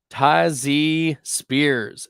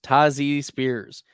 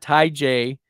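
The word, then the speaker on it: Tyjae Spears: on our rosters okay let's keep her moving tazy Spears that's right that's how it's pronounced tazzy Spears not Tai J tazi Spears we knew that Derrick Henry was coming into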